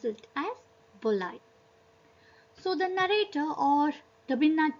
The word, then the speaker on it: Balai: So as per Bengali language, we pronounce Balai as Bolai. Instead of Balai, we pronounce it as Bolai.